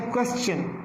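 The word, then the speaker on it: question: अब ये जो क्वेश्चन वर्ड था, अब इस क्वेश्चन को तो हम ठीक पढ़ते हैं, यानी इसमें चन इसको पढ़ते हैं हम क्वेश्चन, चे चार साउंड उसमें पढ़ते हैं।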